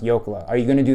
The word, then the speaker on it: Jokela: As a gift to our grandmother, our Finnish grandmother, we should change the pronunciation of our last name to a more authentic last name, which would be Jokela, because Arnie and I had gone to Finland,